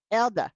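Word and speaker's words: Eldaah: it and then Elder Elda because I remember Elda is pronounced like if I had a Yankee accent and I was saying the word Elder you'd be like Elder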